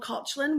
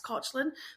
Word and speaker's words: Caitlin: skin tangent I was meant to be called cotlin which is the Irish pronoun like Irish pronunciation of so it's spelled exactly the same